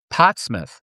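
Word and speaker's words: Portsmouth: one at at uh Potsmith. I had to say it like that because people there think I speak funny because I speak west of the Rocky's English.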